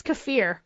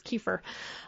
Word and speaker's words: kefir: By the way, I had to look at, make sure I was pronouncing that right. It's kefir. I always thought it was kefir.